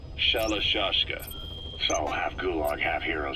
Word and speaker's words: Shalashaska: Because somewhere along the line, Shashka got stuck on the end of Sharashka. The guerrillas were using the name amongst themselves. And by the time I got to hearing about it, pronunciation had wound up as Shalashashka.